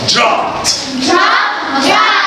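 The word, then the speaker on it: dropped: دي في الماضي دروب دروبت والاي دي هنا بتتنطق تي دروب دروبت جميل عندي كمان يبدا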